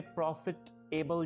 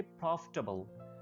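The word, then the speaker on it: profitable: अगर आप बात करें प्रॉफिट एबल, जिस तरह आप पहले बोलते थे, तो आपने क्या करना है, टी को एबल के साथ मिला लेना। लेकिन जब उसको प्रोनाउंस करना है, तो उसको एबल या टेबल प्रोनाउंस नहीं कर देना, उसको आप प्रोनाउंस करेंगे प्रॉफिटेबल, प्रॉफिटेबल, प्रॉफिटेबल।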